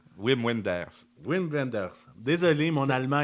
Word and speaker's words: Wim Wenders: prononces mal, mais on va l'accepter. C'est Wim Wenders? Wim Wenders.